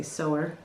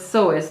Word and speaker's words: sewist: Oh, I used to always say sewer, but it looks like sewer, so I guess maybe people don't like that. So it's sewist.